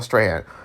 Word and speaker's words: Strahan: That's how you say it, Michael Strahan.